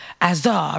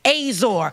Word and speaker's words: Azar: languages said it, and they were all saying Azor, Azar, right? Just like that. And then he put it in English, and English was the only way that was saying it wrong. Azor.